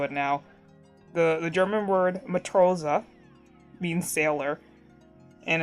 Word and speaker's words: Matrose: Like, so Matt and Rose, and so the character is gonna be named Matthew Rose, and he's gonna be like a sailor.